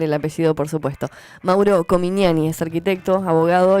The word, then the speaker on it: Comignani: Y además me va a corregir si pronuncio mal el apellido, por supuesto. Mauro Comignani es arquitecto, abogado y martillero.